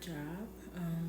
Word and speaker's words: Job: we are still reading in the book of Job.